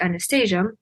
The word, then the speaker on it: Anastasia: Well, the way you pronounce it in Russian, it's Anastasia, but in American, it's like Anastasia.